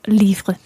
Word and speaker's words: livres: J'ai écrit 2 nouveaux livres. Exactly. And there we have nouveau with an X on the end, which is silent. And of course, livre with an S on the end, which is also silent.